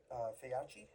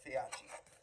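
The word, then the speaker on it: Feyachi: The optics, which are Faiachi. That's how you pronounce it. Yeah, Faiachi.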